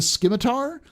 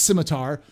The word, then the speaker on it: Scimitar: There's no K in Scimitar. I know it's Scimitar, but they pronounced it Scimitar. So, because they're German, so we're saying Scimitar.